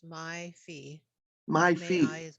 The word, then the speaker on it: Mai Fai: Um, I'm going to butcher the name, so I apologize if I mispronounce anybody's name. It's M-A-I, so May Fay. Yes, it's my fee.